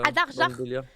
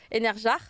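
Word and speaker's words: Einherjar: Anarjar peut-être. Adarjar. Ouais. Adarjar. Dans WoW, tu te bats dans cet univers-là et le gars te dit Enarjar ou Anarjar. Enerjar. voilà. Écoute, je vais prendre cette prononciation parce que j'étais.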